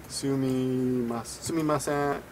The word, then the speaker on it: sumimasen: which means excuse me, sumimasen, like this. In this case, of course, sumimasen, excuse me, the su is pronounced.